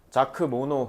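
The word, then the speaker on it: Jacques Monod: 근데 어쨌든 내가 왜 기분이 좀 안 좋았냐면 자 the 어 자크모노 그러니까 프랑스 사람이까지 자크 모노라고 읽을 텐데 영어권에서는 이걸 이렇게 읽을 것 같긴 하거든.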